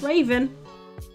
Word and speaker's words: Ravyn: Yeah, that's how it's spelled. That's it. That's Raven.